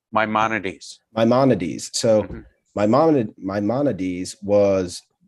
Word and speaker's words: Maimonides: How do you pronounce the name, Rabbi? Maimonides. Maimonides.